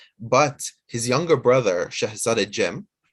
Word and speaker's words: Cem: Bayezid II was able to get to Constantinople first, but his younger brother, Shahzade Cem, in Turkish, the C is pronounced as a J, right?